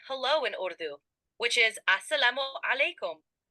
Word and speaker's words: Assalamu alaikum: For starters, let's try saying hello in Urdu, which is Assalamu alaikum. The pronunciation is Assalamu alaikum. Give it a try.